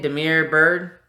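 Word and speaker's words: Damiere Byrd: Demir Bird.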